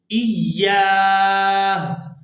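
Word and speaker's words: إياه: الا تعبدوا الا ایاہ، ایاہ، یعنی یہاں پر وقف کرتے ہوئے ہم ہا کی آواز کو بھی واضح کر کے ادا کریں گے، الا ایاہ۔ یہاں پر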